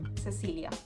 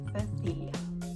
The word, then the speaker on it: Cecilia: So if you take, for example, my name, Cecilia, in Argentina, where I'm from, we pronounce it Cecilia. However, if I'm in Spain, I am going to be Cecilia. And finally, we have the